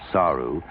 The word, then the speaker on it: saru: play on words and the written character for go away Saru is pronounced in the same way as the character for monkey so the monkeys became